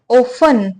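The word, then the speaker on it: often: है आगे बढ़ते हैं ऑफ यह क्या वर्ड है ऑफ ऑफ में टी साइलेंट होता है ठीक है यह ऑफ्टन नहीं पढ़ा जाता है यह ऑफ पढ़ा जाता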